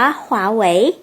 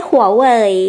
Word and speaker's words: 华为: ว่า หวย นะ คะ ที่ จริง แล้ว เนี่ย อ่าน ว่า ขวา ไหว ไม่ ใช่ Huawei อย่าง ที่ คน ไทย ชอบ พูด กัน นะ คะ ถ้า เกิด